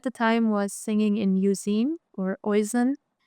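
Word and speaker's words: Euzen: And Maria at the time was singing in Uzine or Oizen, which it's said Uzine, but a lot of people say Oizen, so that's why I say it like that too.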